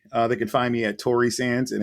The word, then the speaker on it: Torresanz: They can find me at Tory Sands, and it's spelled TORRESANZ, like zebra.